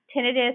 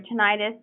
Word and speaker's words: tinnitus: But constant, continuous tinnitus or tinnitus, depending on how you say it, is not normal.